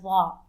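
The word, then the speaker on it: ظ: Now let's move on to Da. It looks just like Da but has a dot on top, and it sounds like the, but it's much deeper.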